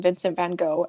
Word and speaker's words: Vincent van Gogh: constantly through this episode, we're going to be sticking with the US American pronunciation, phonetic pronunciation.